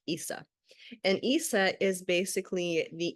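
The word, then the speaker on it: Isa: today was this one this one's Issa is how you would pronounce that it looks like just an i it's like Issa and Issa is basically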